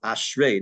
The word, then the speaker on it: Ashrei: this paragraph As ashrae by the way it's ashrae not ashrae you know we say